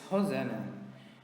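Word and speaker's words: Rosana: My mother's name is Hosanna. Hosanna is spelled R O S A N A.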